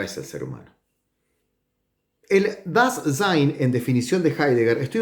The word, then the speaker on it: Dasein: Se dice Dasein, o se escribe Dasein y se dice das Sein.